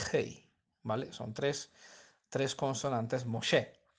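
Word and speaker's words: משה: hey son 33 consonantes moche como se suele leer porque el h final nunca se escucha no nunca se pronuncia no sé en realidad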